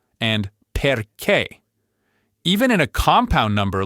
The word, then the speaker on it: perché: If a word breaks all the other rules and puts the stress on the very last syllable, the spelling will give you a giant clue, a written accent mark. So you literally never have to guess. If you see that little accent mark, you stress that syllable.